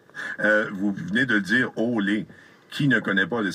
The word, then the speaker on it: Olé: prononce plus comme les Espagnols, Olé.